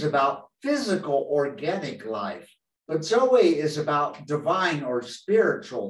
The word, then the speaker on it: zoe: that called zoe uh remember the woman's name zoe that's how it's spelled z-o-e zoe which means spiritual life